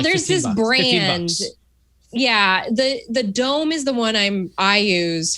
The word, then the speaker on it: Dohm: Yeah, the Dome is the one I use for Mona. It's spelled DOHM, but there's other brands that make it.